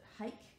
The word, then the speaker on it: hake: how it's felt but in australia and the western world we often pronounce it hake the hake brush so